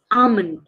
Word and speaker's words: almond: no it's coupon coupon almond did you eat your almond no the L is salent it is almond almond it is almond not almond okay it's Armond these are a very